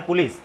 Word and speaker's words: पुलिस: तो, यह जो शब्द आया है पुलिस, यह आया है फ्रेंच भाषा से। कहां से आया है? फ्रेंच भाषा से और फ्रेंच भाषा से जब पुलिस शब्द आया तो फ्रेंच भाषा में आई का मीनिंग क्या निकलता है पता है? आई का मीनिंग निकलता है ई।